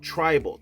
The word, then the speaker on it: Tribl: new stuff by a worship community called Tribal. Tribl is how they spell it.